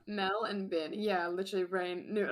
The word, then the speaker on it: Melbourne: i saw him and how he pronounced it and i was like melbourne yeah got it yeah yeah mel and bin yeah literally brain knew